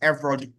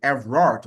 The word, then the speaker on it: Everald: I think I would say Evald, but it's Evald, right? It's Everald Warmington, right? He's not Ever, but it's Eroald, right? His name is Eald Warington. So, I apologize for perhaps mispronouncing his name before. I was saying Everard, but it's Eald.